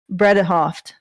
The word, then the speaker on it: Bredehoft: referring to amber heard's lawyer is named elaine bredehoft that's that's the way they pronounce it um so he she was obviously